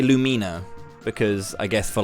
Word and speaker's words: Lumina: heyo looking for Lumina I've always said it as Lumina right as in like illumination but people always say Lumina because I guess for